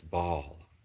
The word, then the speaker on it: Baal: So it doesn't really matter because the god that we're not sure how to pronounce their name is, although somebody did tell me in the chat, it's Baal.